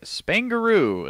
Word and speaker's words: Spaingaroo: o is that correct Spain added to the word kangaroo all right and uh